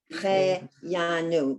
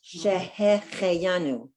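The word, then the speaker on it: שהחיינו: So that word is Shehecheyanu. Shehecheyanu. This first is a hey, and the second letter is a chet. So it's Shehecheyanu.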